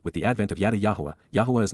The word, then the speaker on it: Yahowah: For how long, Adma, until when will the eternal witness and restoring testimony of Yahuwah, Yahowah, the proper pronunciation of the name of Eloah, God as directed in